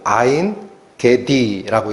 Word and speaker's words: 엔게디: 그게 원어는 아인 개디라고 읽힙니다. 아인 개디.